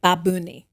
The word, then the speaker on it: Bad Bunny: Because someone corrected me for saying Bad Bunny. And they went, the correct pronunciation is like babuni.